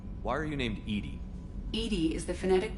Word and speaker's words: EDI: is a jar why are you named Ed Ed is the phonetic pronunciation of Ed that is an acronym for